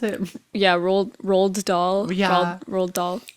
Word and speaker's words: Roald Dahl: How do you pronounce it? Yeah, rolled doll, Yeah.